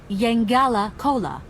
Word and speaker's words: Yangala Cola: The right pronunciation is Yangala Cola.